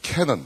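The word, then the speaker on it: Canaan: 이스라엘 백성들이 출애굽으로 해서 가나안을 영어식 발음하면 캐넌 그래.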